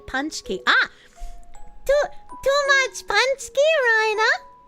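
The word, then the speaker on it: pączki: It's pronounced like Punchki.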